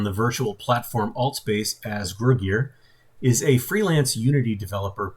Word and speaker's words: Gruguir: Is that the correct pronunciation? Gruguir? Gruguir.